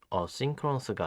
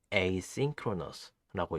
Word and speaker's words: asynchronous: 이 단어는 asynchronous가 아닌 asynchronous라고 읽습니다.